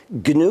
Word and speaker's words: GNU: well any government yeah well first of all G is the name of the operating system I started in 1983 it's pronounced G Linux is a kernel it's one